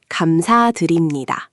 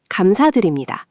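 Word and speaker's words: 감사드립니다: The trickiest part is that "deu-rim" "deu-rim" in the middle. Almost like you're saying "dream" but with an "oo" sound at the start.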